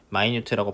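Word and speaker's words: minute: 근데 이거는 발음을 할 때 마이뉴트라고 발음을 하게 되면은 아주 작은 미세한 뜻이 되겠습니다. 발음이 다른 겁니다. 마인트입니다.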